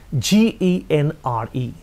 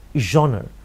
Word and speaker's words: genre: writing is the highest genre spelling is g-e-n-r-e the spelling is g-e-n-r-e but the pronunciation is genre or genre your genre